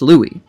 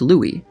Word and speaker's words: Louis: associated with new orleans many people just assumed that his name was pronounced louis he became a symbol of the city however armstrong did not grow up in the more heavily french-influenced district but rather the poorest section of town that contained the more earthy things like honky tonks and prostitutes armstrong wrote in 1944 that only white people call me louie though that was a